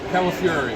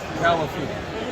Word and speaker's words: Calafiore: Calafiore. Say it like California, but get angry at the end. Calafiore.